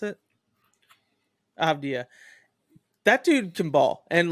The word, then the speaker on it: Avdija: How do you pronounce it? Avdija.